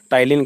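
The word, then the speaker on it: ptyalin: spelling आपकी क्या रहेगी टाइलिन की तो जो टाइलिन है उसकी शुरुआत इससे पी से होगी और पी यहां पे साइलेंस रहेगा कंटेंस टाइलिन एंड स्लेवरी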